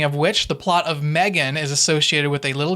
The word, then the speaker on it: M3GAN: Today we're talking about M3GAN, produced by Blumhouse, and that's M3GAN with a 3, by the way, so technically it's pronounced M3GAN.